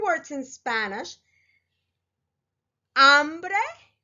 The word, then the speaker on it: hambre: 3 words in Spanish: hambre, hombre, and hombro. As you can see, they are very similar in their spelling. All 3 start with an H, H, which in Spanish, remember, the H is silent.